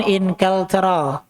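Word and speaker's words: إنكلترا: Inkilitro ataupun inkaltro. Inkilitro. Bacanya inkilitro. Inkilitro.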